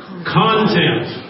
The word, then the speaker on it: content: right that's the other that's St on the accent on the first syllable content okay thank you sorry